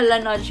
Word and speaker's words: Laneige: Yung favorite lip mask ko is the Laneige or Laneige. Sabi kasi nila Laneige yung pronunciation, so I'm gonna stick with Laneige Lip Sleeping Mask.